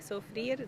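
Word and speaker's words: Soufrière: Dan lives in London, but his freediving family is probably the Blue Element guys in, how do you pronounce that? Soufriere? Yes, Is that I think Soufriere, Dominica.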